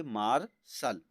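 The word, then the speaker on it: martial: है आपका कंसोनेंट है कंसोनेंट के बाद टी आई ए एल आई तो आपको क्या पढ़ना है उसको शल का उच्चारण निकलना है तो इसको हम पढ़ेंगे मार्शल अब उसी प्रकार ए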